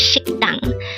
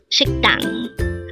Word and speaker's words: 식당: Again, it's 식당. This is pronounced as a two-syllable word. The first syllable is shik, second syllable is dang. Pronounce it with me. 식당.